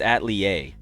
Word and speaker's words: atelier: It's Atelier. Okay, Atelier. The R is silent.